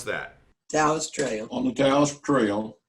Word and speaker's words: Taos: There is a church on Taos Trail. How do you pronounce that? Taos Trail.